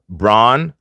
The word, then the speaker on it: Bruno: Alex is saying that Bruno first name isn't actually pronounced Bruno, it's pronounced Bruno. Oh, so his name is pronounced Bron Fernandes. Yeah, Bron Fernandes.